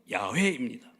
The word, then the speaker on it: 야훼: 또한 구약에서 흔히 사용된 하나님의 이름이 가운데 우리가 잘 아는 여호와라는 이름이 있습니다. 원래 발음은 야훼입니다.